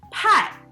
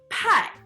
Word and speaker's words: 派: But you gotta make sure it's pronounced with a fourth tone, like a karate chop. Pie. So an apple pie will literally be 苹果派苹果派 Very good.